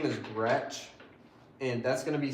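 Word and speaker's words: Groetsch: That's spelled. Got you. My last name is Gretsch.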